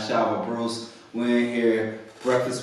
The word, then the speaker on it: Shiver: Shiver, not Shiver. Follow me on Instagram, Shiver Bruce. It's spelled like Shiver.